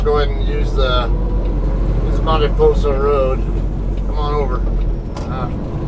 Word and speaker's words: Mariposa: I can take Mariposa Road or Mariposa, whichever way you guys prefer to pronounce it. Of course, I'm pronouncing it the Spanish way. The usual English way is Mariposa.